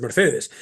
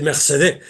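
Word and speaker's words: Mercédès: Pero Mercedes no es Mercedes, Mercedes es Mercedé. Lo pronuncian así, entonces yo diré Mercedes en todo momento, ¿no?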